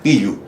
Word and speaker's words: Pilco: Entonces, Pilco viene de Pilco, con K. Como no hay K, Pillu.